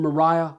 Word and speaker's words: Maria: to share insight from mariah wood with etter this time now i know her name spelt maria but she said mariah that's how i'm told she pronounced it this lady went through